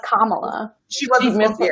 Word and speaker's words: Kamala: No, she mispronounced Kamala. She She wasn't supposed missed to get it. Yeah, she called her Kamala instead of Kamala.